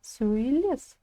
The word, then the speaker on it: сөйлес: Ударение падает на последний слог. Все. Үлгі бойынша сөйлес.